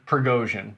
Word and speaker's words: Prigozhin: How do you pronounce his name again? Prigozhin.